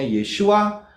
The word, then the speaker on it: Yeshua: Kemudian, Sang Putra itu bacanya Yod, Shin, Waw, Ayin. Bacanya Yeshua.